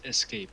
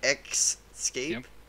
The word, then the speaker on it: escape: I do library etc xscape escape escape its escape escape people say that escape yeah what the heck excape that's weird I also